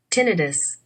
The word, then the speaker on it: tinnitus: I don't know, so I just googled it, and I find out that this is how it should be pronounced. So let's hear it. Tinnitus, Hmm, did you get that?